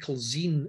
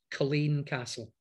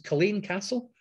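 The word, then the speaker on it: Culzean Castle: can't pronounce it properly yes you're all saying culzine at the moment but it's actually pronounced colleen castle so this is colleen castle you can see it's very dramatic it's on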